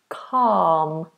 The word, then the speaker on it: calm: of the word calm the L is silent no touching the roof of the mouth calm calm um oh Muhammad's